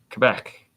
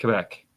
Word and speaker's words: Quebec: Quebec. That's how you say it. Quebec. Yeah, it's like Quebec. Quebec. No, it's it's French, bro.